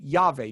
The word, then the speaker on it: Yahweh: because no Hebrew ever pronounced God's name Ehya, which is I am, or in your footnote, which I think is better, I will be. Okay, they pronounced it Yahweh, nor was it written.